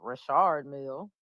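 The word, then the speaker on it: Richard Mille: stage first of all I didn't know it was pronounced Rashard Mill that's that's not how Jay-Z pronounce he he cool I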